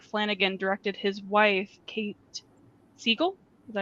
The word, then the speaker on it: Siegel: How many times has Mike Flanagan directed his wife, Kate Siegel? Is that how you pronounce it?